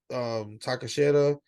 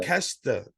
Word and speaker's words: Takeshita: The roll up victory from Takashita, or however you pronounce it. I'm sorry if I Takashita, Takashita. Sorry, I totally fucked that up. But Takesha, Takeshita, there you go.